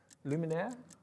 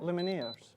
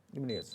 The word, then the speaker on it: Lumineers: Luminaire, how do you say it? What the... Luminaire? Lumineers. Lumineers. Lumineers from Bell Countryside. Yeah. Because I was saying to Ellie that it's like Luminaire in Beauty and the Beast.